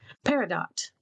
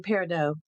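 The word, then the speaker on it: peridot: And I'm going to use pink terurmoline and paradot. I figured out thanks to uh Google how to actually pronounce those. I've been saying parido.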